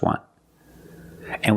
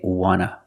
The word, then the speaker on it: want to: Just want. And we see the T in want is an NT. So we don't pronounce the T and we say wanna, wanna.